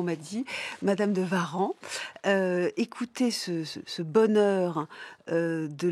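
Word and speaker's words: Warens: Madame de Varan. Alors, on m'a dit qu'il fallait prononcer ainsi. Je vois qu'il y a des rousseau qui disent encore madame de Varin. Donc, je suis un peu perdu mais je vais dire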